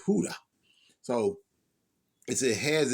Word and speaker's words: Hoodah: That J is pronounced a little different, but I know when Spanish people they say Hoodah.